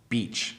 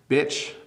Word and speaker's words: beach: I know people with certain accents, when they say the word beach, it sounds like they're using the word bitch, which is a bad word, which you shouldn't use. So be very careful of the two. Beach, good word. Bitch, bad word.